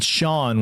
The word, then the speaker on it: Sean: I have a hard time saying Shawn when it's spelled S E A N.